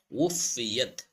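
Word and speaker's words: وُفِّيَتْ: ওয়াফা পেশ উফাদের ফি উফি ওয়া উচ্চারণ করতে ঠোঁট গুল করতে হবে, নাহলে হামজার উচ্চারণ চলে আসবে। উফিয়াত উফিয়াত কুল্লু কাফ লাম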